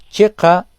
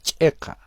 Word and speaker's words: chiqa: tres palabras hilata cuyacanacamisaki Checa Checa Checa en el primer caso como con la che que conocemos en castellano en el segundo haciendo